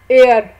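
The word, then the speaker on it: heir: इसी तरह एयर, एयर कहते हैं वारिस को, और एयरेस कहते हैं लड़की, और एयर लड़के वारिस को। अब यहाँ पे देखें एच साइलेंट हो गया और ई जो है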